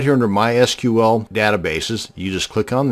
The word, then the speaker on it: MySQL: to create a MySQL database and yes it's pronounced MySQL not my sequel so the next time you're at a dinner